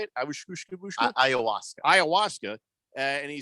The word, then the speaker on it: ayahuasca: Ayahuasca. And he said, hey, go ahead. Try to come at me on the what? Ayahuasca.